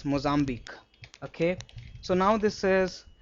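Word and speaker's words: Mozambique: This q u e is always pronounced as c. So pitchusk. Similarly moambi or antique. You remember this right? Antique. There are so many words in English where just like pronounced. So what we have to remember is this mozzambi.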